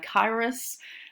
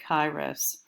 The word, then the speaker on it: Kairos: I've heard it pronounced Kairos, Kairos, Kairos. I usually pronounce it Kairos.